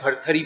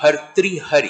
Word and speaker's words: भर्तृहरि: गांव में जो है खटखरी भी बोलते हैं उसका सही उच्चारण है कि भर्तृहरि कि उनकी समाधि चुनाव